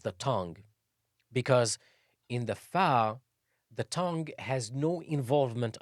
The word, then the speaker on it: ف: The 20th letter is fa. It's like you're saying fire, fire, fire.